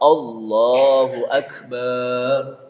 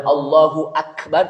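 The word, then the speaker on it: الله أكبر: Ada juga orang takbir kan kemana? Allahu Akbar, Allahu Akbar, Allahu Akbar. Padahal yang betul apa? Allahu Akbar, Allahu Akbar, Allahu Akbar. Kenapa? Karena kalau Allahu Akbar berarti Allah dan Maha Besar. Padahal Allahu Akbar itu satu kesatuan.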